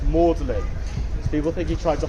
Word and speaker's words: Magdalene: chose Mary Magdalene and he wants it to be pronounced in the French pronunciation which have it pronounced Morin people think he tried